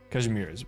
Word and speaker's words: Kazimierz: Known as a country of knights and commerce, Kazimierz is governed by the Adeptus Perfect pronunciation, by the way. Kazimierz, A-S-K, ask.